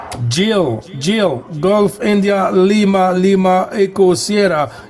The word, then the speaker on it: Gilles: Jill, Golf India Lima Echo Sierra. If you want, you could say Gillis too. Okay, how do you say it in French? Gilles is correct? Gilles. Gilles, yes, Gilles.